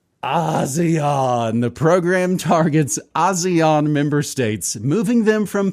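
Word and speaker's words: ASEAN: Do they pronounce it Asian as EAN? The Association of Southeast Asian Nations. I'm just gonna say Asian. I think they go with Azion, but whatever.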